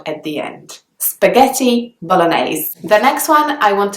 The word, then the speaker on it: bolognaise: kind of a sound at the end spaghetti bolognaise the next one I want to talk to